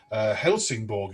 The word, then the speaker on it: Helsingborg: Your early jobs, Turku Philharmonic Orchestra for 3 years, and then Helsingborg, is that how you pronounce it, in Sweden?